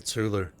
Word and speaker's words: Cthulhu: not using this door they pronounce it culu that about to sacrifice